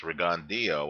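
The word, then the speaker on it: Rigondeaux: Um, Guillermo Rigondo, pronounced Rigondio on HBO on their telecast, over Ricardo Cordoba.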